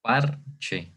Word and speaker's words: parche: En donde yo digo, o más bien en donde yo hago la fuerza cuando digo esta palabra, pues obviamente en esta sílaba, ¿verdad? Digo parche, no digo parche, que sí significa algo